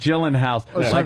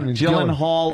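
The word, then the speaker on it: Gyllenhaal: suggestions yes gyllen house gyllen hall or or Gillan Hall I've heard uh two ways it could be pronounced so what is it uh I've heard Jake gyllenhal I think that's pretty accurate oh I was yeah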